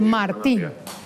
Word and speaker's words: Martín: ¿Con acento o sin acento en la I? Con acento en la I, sí. Martín.